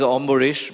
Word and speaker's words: Ambarish: you said another very interesting how am I pronouncing your name right my name is my name is omish but go ahead I mean I can understand